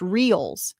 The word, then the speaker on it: reals: It's pronounced reals.